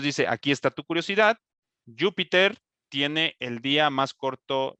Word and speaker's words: Júpiter: aquí está tu curiosidad júpiter tiene el día más corto de todos los planetas como cambiamos para que aquí no digas peter pues es que le hace falta un acento en la u por eso la ortografía